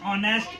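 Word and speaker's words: honest: ये consonant sound है एच क्या है कंसोनेंट है लेकिन हम इसको पढ़ते क्या है ऑनेस्ट पढ़ते हैं ऑनेस्ट क्योंकि ये हमारे ना फोनेटिक फोनेटिक्स जो हम लोग फोनेटिक्स जो पढ़ते हैं प्रोनंसिएशन यानी उच्चारण का तो उसम क्या एच यहां पे हम लोग साइलेंट वर्ड के रूप में जानते हैं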